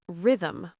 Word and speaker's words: rhythm: What about rhythm? R H Y T H M Rhythm. Silent H for sure.